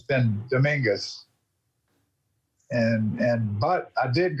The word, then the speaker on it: Domingues: i moved to houston my name was domang with the french pronunciation on it and um moved here culture shock it's actually dominguez which it really is a spanish name uh my ancestors we